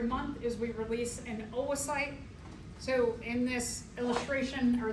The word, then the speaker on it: oocyte: So let's talk a little bit about these further then this term oasite o O c y t it's pronounced the two o's are oasite production oasite is the technical name for what